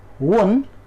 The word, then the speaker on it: one: Because when we pronounce the word one, there comes consonant sound.